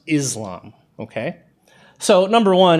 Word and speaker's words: Islam: is pronounced Islam or Islam it's not pronounced Islam okay so number one if you see someone on the news talking about Muslims or Islam and they pronounce it with the z sound it might be something